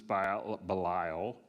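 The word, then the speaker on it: Belial: Paul says uses balile.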